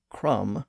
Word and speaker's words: crumb: even though the word Crum received a new B in its spelling the B remained silent in the pronunciation of the word but notice what happened